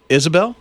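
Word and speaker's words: Ysobel: for you why s OBE L but they pronounce it Isabel Isabel Isabel Isabel I like how they how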